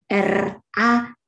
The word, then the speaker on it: ranting: In Indonesian, you pronounce it R-A-N-T-I-N-G, ranting, which means twig, T-W-I-G, the most beautiful part of a tree.